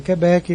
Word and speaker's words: Quebec: 54 aprovado também foi Quebec, e por fim no segundo teste permaneceu como Quebec. Só que a pronúncia é forte, não é o que, é o bec. Então é Quebec, Quebec.